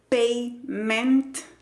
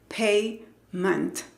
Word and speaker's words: payment: Y si tu cerebro te dice que la pronunciación es payment con E, el cerebro te está engañando. Yo te invito a que visites el diccionario de Cambridge y busques la palabra y cierres los ojos y escuches atentamente. No es payment. No, es payment, payment.